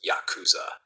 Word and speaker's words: Yakuza: game called oo kabu where 893 pronounced Yakuza is considered a bad hand the Yakuza adopted this